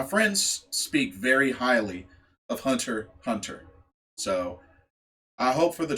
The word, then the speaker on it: Hunter x Hunter: uh number seven uh hunter x hunter or actually pronounce hunter hunter um so one of